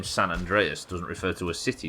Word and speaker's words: San Andreas: Don't forget to pronounce San, like sand. San Andreas.